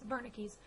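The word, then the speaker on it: Wernicke: Barney keys area and it's spelled the Debu it's German I believe it's Verna Keys Verna keys area is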